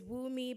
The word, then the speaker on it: Wooi: My name is Wooi. Doesn't look the way it's spelled, but to to woo a lady, woo me.